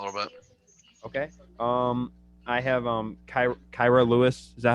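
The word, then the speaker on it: Kira Lewis: I have Kyra Lewis. Is that how you say his name? Mm-hmm. Yep. Yeah, I have Kyra Lewis.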